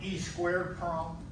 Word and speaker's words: EEPROM: Some people pronounce that EEPROM. Some people call it E² PROM.